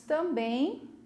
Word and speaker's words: também: A palavra também, se vocês forem observar, ela tem a última sílaba forte, né? Eu vou gritar também, né? A última sílaba é mais comprida, eu puxo na hora de falar. Então, eu vou utilizar o acento.